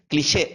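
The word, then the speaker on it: cliché: Clicheங்கிறது British pronunciation, cliche அப்படிங்கிறது வந்துட்டு American pronunciation.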